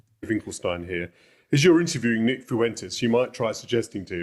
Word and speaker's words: Fuentes: It's one just one syllable. Fuentes.